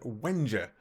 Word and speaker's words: Wengier: bit so today we are joined by David Wenger and I believe that's how you pronounce it he can actually rate me later